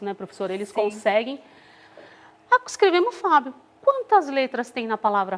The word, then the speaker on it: Fábio: Que aí, pronunciando tudo junto, fica Fábio. E o acento, né? Porque a gente fala bem mais forte o Fá.